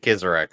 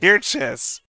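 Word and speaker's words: Kircheis: How do you pronounce it? Kirches. Kirches. That's how I pronounce it. I mean, I may be proven wrong, but I'm pretty fucking sure. Pretty fucking sure there's not a Z in his name anywhere.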